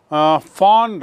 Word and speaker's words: von: वैसे तो VON है इनके नाम में, लेकिन उच्चारण होता है फॉन, इसको याद रखेंगे।